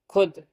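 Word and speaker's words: خود: ना जाए वो माधुलाल वो वाव होता है जिसको लिखा तो जाता है लेकिन पढ़ा नहीं जाता वावे मादु समझाते हुए मुंदर जैल के हिज्जे कराए समझा तो दिया ही है अब हि करते हैं आइए खे वाव पेश फ शीन साकिन खुश खेवा पेश ो दाल साकिन खुद खे जबर खा वा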